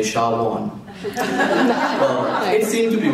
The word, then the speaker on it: Shawon: He says, just like you say shower on, say Shawon.